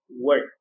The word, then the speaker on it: worked: I pronounce it worked. Okay, it finishes with t sound.